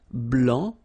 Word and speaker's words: blanc: okay so here masculine BL don't pronounce the final C and then blanch okay